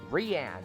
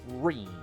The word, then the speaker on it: Rean: pronounced that way but his name is spelled ranne okay right there Renne or at best ring not Ren it's Rene okay like what the [